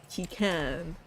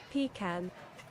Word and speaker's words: pecan: Two correct ways. First common way to say this word is pecan. Hmm? It has vowel I, like pig, in Right. the first syllable. Pecan. Pecan. Pecan. The stress is on the second syllable, con.